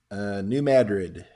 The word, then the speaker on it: New Madrid: isn't it spelled like Madrid as in Madrid, Spain? Yes, but they pronounce it differently.